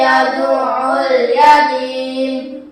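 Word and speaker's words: يَدْعُ الْيَتِيمَ: Jadi ini ada tasydid, ainnya harus ditekan. Yad'ul yatim.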